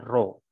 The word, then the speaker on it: rho: Rho ya, rho. Bacanya gini, rho. Huruf Yunani.